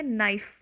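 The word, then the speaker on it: knife: है फिर आता है नाइफ विदाउट के के भी प्रोनाउंस सेम ही करेगा तो क यहां मूख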